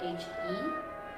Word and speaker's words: He: I'm He. My last name is kind of weird. It's spelling at H-E.